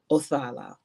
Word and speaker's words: Othala: Okay, so it says the pronunciation of this card is Othala.